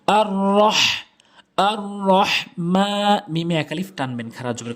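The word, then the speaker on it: الرحمن: আর রহ, অনেকেই ভুল উচ্চারণ করে বলে আর রহ, ছোট হা এনে বলে। ছোট হা এটি হচ্ছে বড় হা, যেটি হলকের মাঝখান থেকে। আর রহ, আর রহ মা, মিমে একালিফ টানবেন খারা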